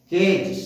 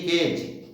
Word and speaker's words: cage: केज, CAGE केज, केज माने पिंजरा। ऐसे ही पेज, PAGE पेज, पेज माने पृष्ठ। स्टेज माने स्टेज। इन सब में जी आया तो उच्चारण ज हो।